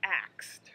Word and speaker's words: ask: saying i asked her so the correct pronunciation is i asked her a question asked asked he asks me that question all the time or i'm going to ask her i'm not sure or i love asking him personal questions or